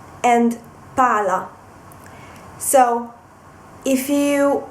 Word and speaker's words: pala: whereas if you pronounce Pala with just one L it means chov so if you mean the ball the round object you have to uh stress the Double L so pal Pala paa and this the